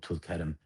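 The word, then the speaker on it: Tulkarm: That's um that's that's a city um outside of the Nabasin area called Tulkam where one of the refugee camps this year was brutally brutally assaulted.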